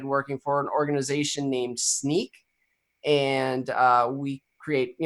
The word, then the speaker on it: Snyk: well uh SNY YK so it's it's either sneak or Snick but it it's sneak um it's just our